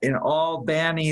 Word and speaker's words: Albany: Yeah, I guess in Albany they put the stress on the middle syllable.